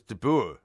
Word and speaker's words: de Boer: Yeah, but it's not pronounced de Boer, is it? It is. It's de Boer.